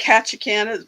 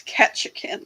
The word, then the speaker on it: Ketchikan: Yeah, it sounds like Ketchikan, but it's Ketchikan, like ketchup.